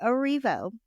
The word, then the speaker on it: Erivo: Well, moving on, Cynthia Erivo, I need to say her name correctly, Erivo, will host the Tony Awards this June.